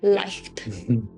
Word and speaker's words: Leicht: Leicht.